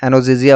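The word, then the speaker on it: analgesia: और और ये, और यहाँ पे आपका एनोजिजिया, क्या होता है ये एनोजिजिया, देखो एल इसमें साइलेंट होता है, एनोजिजिया होगा, एनोजिजिया होता है दोस्तों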